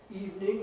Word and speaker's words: evening: Calm, Christmas, cupboard, evening. Not evening. Right? Nobody said good evening. Right? Good evening. It's been two syllables only for about 500 years now.